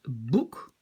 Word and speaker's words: boek: Het boek, facile avec le OU. Het boek. Voilà, on n'a pas un long OU et un OU qui est court. Donc voilà, je rajoute EN, le OU, il se prononce toujours OU.